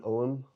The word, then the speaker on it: Ogham: So, what I'm going to do with these is I want to use cobalt oxide to draw an OM onto the plates and then clear glaze the whole thing.